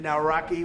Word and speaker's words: Nawrocki: It's a great pleasure to have President Naraki with us, Poland.